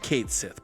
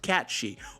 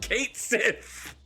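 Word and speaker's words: Cait Sith: Ultima weapon which is Cloud's Ultimate Weapon it's pronounced Kate Sith boxy I listen I will accept some things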